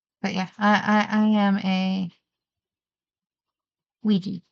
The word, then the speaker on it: Ouija: ads and publications for Ouija boards. And on it, like the first one, it said, like, it's pronounced Ouija. I've always pronounced it Ouija. Are you a G or a J?